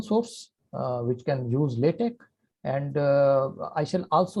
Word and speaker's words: LaTeX: the correct pronunciation is latch l a t e k do not pronounce the X fully please this is LC